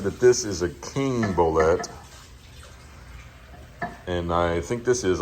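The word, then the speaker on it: bolete: ble but I found out today that it's pronounced bolette so this I'm confident that this is a king bolette and I think this is also it's definitely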